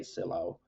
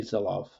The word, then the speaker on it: Sylow: at least in the US uh we say syllo it's the pronunciation is not good uh it should be zilof but u but we we say syllo in